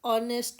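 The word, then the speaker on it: honest: नेक्स्ट वन शी इज ऑनेस्ट woman. वो एक ऑनेस्ट औरत है। एक ए या एन। ऑनेस्ट में एच साइलेंट है।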